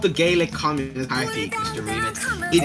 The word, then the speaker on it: Gaelic: So Gaelic yeah, and that's how it's pronounced in Ireland.